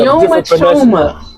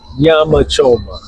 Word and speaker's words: nyama choma: Nyoma choma. Nyama choma. Nyama. You said it. That's a Y. And But it's spelled with an N.